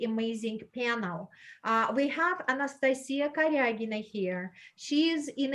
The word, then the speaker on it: Anastasia: now and i'm sorry i mispronounced you nes i said anastasia it's a slovenian way of saying your name but internationally uh more proper probably anastasia so anastasia right now